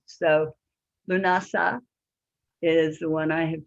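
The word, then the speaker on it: Lughnasadh: i was pronouncing and there are several different pronunciations so lunasa is the one i have chosen and it's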